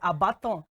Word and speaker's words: Abaton: You know, my producer just said it's Abaton. So yes, I want to know the meaning of Abaton and Abaton.